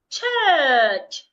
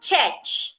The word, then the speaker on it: church: is church her s church so it's not check it is not the a sound if you say Church you're saying this sound here but it's not the a sound it's the uh church it's not s It's